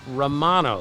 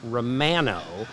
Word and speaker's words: Romano: So I always call him Jordan Romano because that's how we would say it in our country. But in Canada, they pronounce it Jordan Romano. So he pronounces his name Jordan Romano, and everyone who does the team, broadcasters call him Jordan Romano because he said, that's how you pronounce my name.